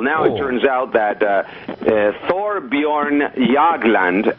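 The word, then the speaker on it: Thorbjørn Jagland: Well, now It turns out that Thorbjorn Jagland, and I pronounce it correctly because I'm half Swedish. I know you did an excellent job of that, by the way. Yeah, Thorbjorn Jagland, chairman of the Nobel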